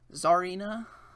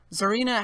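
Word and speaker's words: Tsareena: So looks like Zar and Ina. Zarina, I think that's how you say it.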